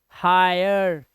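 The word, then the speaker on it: hire: है, कह रहा है जब किसी वर्ड में आई के बाद RE आ जाए तो इसका उच्चारण हो जाएगा आय, क्या हो जाता है, आय, जैसे देखो आई के बाद RE तो फायर, आयर, फायर, हायर, आयर, इंस्पायर, टायर, आई के बाद आ रही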